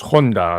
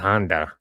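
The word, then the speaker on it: 本多: It's pronounced Honda ladies and gentlemen not Honda.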